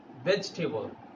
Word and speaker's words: vegetable: But as a native speaker, I'll pronounce it vegetable. There is a two syllable, a sound of E. I'll just remove the one E and we call it vegetable.